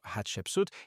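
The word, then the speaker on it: Hatshepsut: Então temos a filha dele e o nome dela é pronunciado Hatsut e ela é de 150 a 1482 a de.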